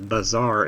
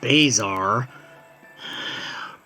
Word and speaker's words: Bazaar: get a sign that says Bazaar in front of it not Bizarre Bazaar or as oxhorn insists on mispronouncing it Bazar it's a personal pet